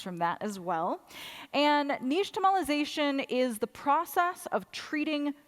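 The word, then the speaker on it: nixtamalization: So this technology, this word actually comes from the Aztec language. So it's pronounced closer to niche tomolization, but it we can say nixtomolization.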